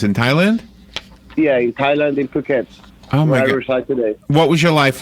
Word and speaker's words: Phuket: some work but I live in Thailand in cook it oh you live in Thailand and that's how you pronounce it it yes and all Americans have